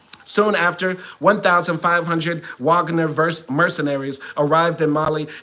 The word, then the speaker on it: Wagner: F soon after 1,500 Wagner ver mercenaries arrived in Mali and French troops and un peacekeepers were rejected by the way I know it's pronounced Vagner I just like saying W it's just funnier still